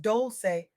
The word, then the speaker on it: Dolce: Welcome to the Soft Girl Era podcast, hosted by Dolce, pronounced Dolce, like sweet softness whispered in French.